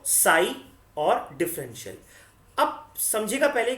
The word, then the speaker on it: psi: इस सिंबल का नाम है साई, जैसे PSI बोलते हैं इसको, लेकिन P साइलेंट होता है, तो इस सिंबल का नाम क्या है?